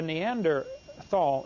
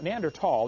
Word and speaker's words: Neanderthal: you don't know the neander Thal neander tall the H is silent neander tall man is